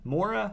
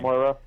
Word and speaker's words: Moira: The Mora. I'm bad at pronouncing her name. Moira. Yeah. Moira.